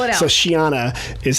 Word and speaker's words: Sheana: anyone's about s-h-a-w-n-a and might as well just spell it out so Shiana is how it's kind of like and if